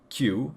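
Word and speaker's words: 九: as with number four there are two pronunciations q as in QB from Naruto and ku which is hominem for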